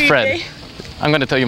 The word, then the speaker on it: Fred: but it's probably cool in Norway it's just Fred oh okay you just turn around the r to R say R scream it